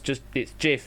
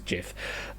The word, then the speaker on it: GIF: Because like it's the graphics interchange format, so it's a G GIF, but then some people argue no, it's GIF because it sounds better as GIF.